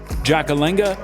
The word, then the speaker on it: Ndjakalenga: to want to remember jackalenga muenen tonda four syllables in her first name and four in her last a silent nd in